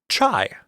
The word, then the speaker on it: chai: That's mostly just because chai is believed to be a Persian derivation from the Northern Chinese dialectal pronunciation of the word cha. The Persians added the I sound at the end of the word, kind of bringing it into their language.